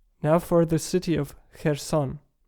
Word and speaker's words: Kherson: city of her son the pronunciation in in Ukrainian as an initial consonant that does not exist in in English it is called a voiceless wheeler fricative the closest thing in English you may have is in the syllable